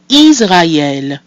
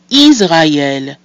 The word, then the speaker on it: Israël: Israël. So we have I, which is E, we have A, which is A, and E with the tréma, which is E. We put that together and we get Israël.